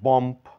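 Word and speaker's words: bomb: সম্বন্ধে জানবো আমরা এটাকে বম্ফ ওম্প টম্প বলে থাকি এখানে আমাদের শেষের বি লেটারটির কোন উচ্চারণ হবে না এটা বম্ফ না বলে বলবো বম be silent ওম be silent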